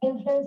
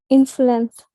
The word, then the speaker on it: influence: and is a leading influence on. So how do you speak this word? Influence. It is not influence. It is in. So first syllable is in, second is flu, and then ends.